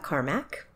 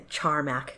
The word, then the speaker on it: Charmak: my name is Carmack or I've been pronouncing a charm AK cuz it's spelled with a CH and I am a